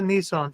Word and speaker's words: Nissan: He does be saying Nissan. Nissan. That's actually the way it's pronounced.